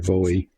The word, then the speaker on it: Bowie: So it's either buoy or Bowie depending on, you know, how you say it, I guess.